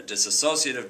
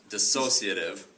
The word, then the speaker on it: dissociative: disorder a seaform disorder a disassociative disorder or I should say I always mispronounce that dis dissociative disorder uh mood disorder schizophrenia